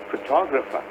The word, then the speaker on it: photographer: But when it comes to the man who takes the photo, he's a photographer. See, the stress changes, the pronunciation also changes.